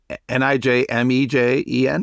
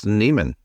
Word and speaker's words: Nijmegen: Spell it again. Nijmegen. This is a trick question. It's Nijmegen. Is that correct? Yeah, close enough. Oh, it's Neiman.